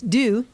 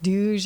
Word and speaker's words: Duje: right now, and it's Duje. Duje. Yeah, and it's spelled D-U-J-E, which looks like Duge or like the John Wayne Duke.